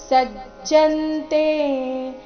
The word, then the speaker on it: ಸಜ್ಜಂತೇ: ಸಜ್ಜಂತೆ ಪ್ರಕೃತಿರ್ ಗುಣ ಸಮ್ಮೂಢಾ ಸಜ್ಜಂತೆ ಜ ಕ್ಕೆ ಜ ದು ಗೊತ್ತಿದ್ದ ಕಾರಣ ಸ್ವಲ್ಪ ಸ್ಟ್ರೆಸ್ ಕೊಟ್ಟು ಹೇಳ್ಬೇಕು ಸಜ್ಜಂತೆ ಗುಣ ಕರ್ಮಸು ಗುಣ ಕರ್ಮಸು